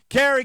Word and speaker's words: Cary: a great town and incidentally kerry north carolina is spelled exactly the same way that rob's wife's first name is spelled that's right c a r y kerry and i do believe